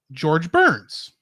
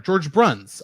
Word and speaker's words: George Bruns: kingdom hearts game wow also george burns sorry george bruns i said his name wrong he also wrote